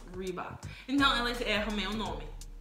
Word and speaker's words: Reebok: Aqui nos Estados Unidos, R tem som de R. Reebok. Então, elas erram meu nome. Meu nome é. Reebok.